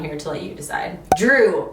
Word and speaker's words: Drue: Drue, but it's spelled D-R-U or D-R-U-E. Seth's brother's name is Drue, and it's not Andrew, it's just Drue.